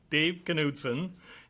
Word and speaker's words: Knudson: Can you state your name and spell it? Dave Knudson, and the last name is K-N-U-D as in David, S-O-N.